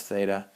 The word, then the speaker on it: theta: the symbol just so happens to be but um and it's pronounced theta.